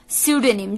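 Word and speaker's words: pseudonym: तो 13th word for D evening इस sudanyam sudanim जी हान दोस्तों बहुत लोगों ने अगर आप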